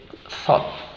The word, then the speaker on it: thought: Thought. Tenemos el sonido TH, el sonido TH ahí, muy bien.